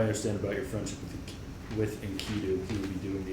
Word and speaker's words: Enkidu: Enkidu is good, not, yes.